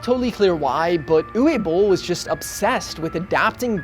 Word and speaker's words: Uwe Boll: I think it's Uwe Boll.